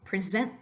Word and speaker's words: present: a verb we have a present as a noun but if you're going to present something you're emphasizing the second syllable polish well polish could